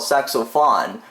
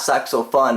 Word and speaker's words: Sax-o-phun: altogether though anyway that the actual pronunciation for the song is called saxophone not suck so fun as i said earlier